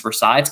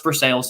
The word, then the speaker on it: Versailles: that it's actually pronounced versailles it's pronounced for sales in kentucky but in france it's versaille and at the palace